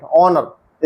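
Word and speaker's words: honour: sign चिन्ह design रचना resign इस्तीफा देना एच साइलेंट ओनर इज्जत एच ओ यू आर आवर घंटा थ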